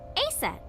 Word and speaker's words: Isis: Horus's mom is named Isis, but in ancient Egyptian, it's pronounced closer to Isa or Aset.